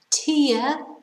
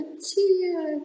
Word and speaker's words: tear: difficult isn't it difficult then we have tear so tear is when you're crying under tear comes down your face that's a tear tear is when you rip something up you tear it yeah when you destroy something normally paper and tear it so